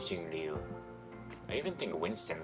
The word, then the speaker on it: Jingliu: I actually think that's how you say it, because I've been calling her Jinglu. I think it's Jingliu.